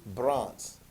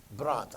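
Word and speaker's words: Brandt: earlier in your studies his name is willie bronts and you're not spell it's not spelled right there but w-i-l-l-e-i-e and then braun b-r-a-n-d-t bronte i know i don't have it there but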